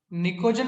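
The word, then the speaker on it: pnictogen: Group 15 के element को बोलते हैं निकोजन, बोलते हैं, पी साइलेंट होता है।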